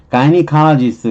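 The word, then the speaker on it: gynecologist: 가이니칼라지스트 그럼 요선이 가인의 의사, 부인과 의사, 가인의 의사. 발음도 가이네니까 가이니칼라지스트, 가이네. 이렇게 그렇게 해두면 좀 낫잖아요.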